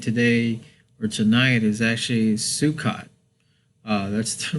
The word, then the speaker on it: Sukkot: October the 2nd today or tonight is actually sukot uh that's the right pronunciation on there uh some people pronounce it sukot and in a whole bunch of different stuff but sukot is the right pronunciation on there but tonight